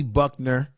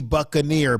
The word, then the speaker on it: Buccaneer: Buckner that's in the house. Or is it Buccaneer? It's B. Buccaneer. Buccaneer is what I should be pronouncing your name as.